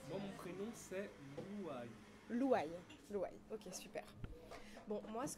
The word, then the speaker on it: Louaïl: redis-moi juste comment je je dis ton prénom reprononcele moi moi mon prénom c'est loua loua louil ok super bon moi ce que j'aime bien